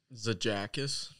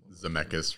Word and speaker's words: Zemeckis: Zajakis. No. Can you say his name? Zemeckis, Robert Zemeckis.